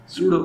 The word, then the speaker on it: pseudo: सूडो science, सूडो P silent, सूडो science जी, क्या होती है सूडो साइंस?